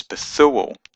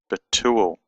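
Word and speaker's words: בתואל: They've both got a t sound in modern Hebrew, but traditionally the tav had a th and a t sound. That's why in our English Bibles the name is Bethuel, but an Israeli would pronounce this Betuel.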